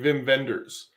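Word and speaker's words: Wim Wenders: it's wim or or is that the w pronounced like a v like the sony wago tvs were yeah exactly well i know there's um there's there's a scandinavian filmmaker named vim venders and it's spelled whimwenders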